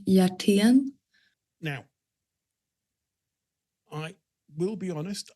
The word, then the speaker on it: Hjertén: So it's actually pronounced with a J, like Hjertén.